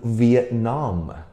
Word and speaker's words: Vietnam: 音在后面我们要读 Vietnam, 很奇怪对不对 ?NAM, 我们要读 NAM 的声音 ,NAM 的声音。OK, so Vietnam, Vietnam, OK?